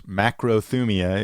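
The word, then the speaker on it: μακροθυμία: Macrothumia is how it's said in Greek, means long suffering, right, or slow to anger.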